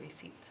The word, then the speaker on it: receipt: i'm talking to people to just say receipt so i don't sound like i don't know what i'm talking about i do it with all silent letter words many people use tricks